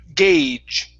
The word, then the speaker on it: gauge: The word is pronounced gauge. Long A sound. Gauge. Gauged. End with the J sound. Instead of a D, it's gauge.